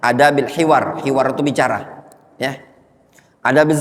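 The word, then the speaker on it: أدب الحوار: Pada bab-bab yang sangat banyak dari bab-bab adab, seperti adab jual beli, adab berdagang, adab bertetangga, adabul hiwar, afwan, itu bacanya adabil hiwar.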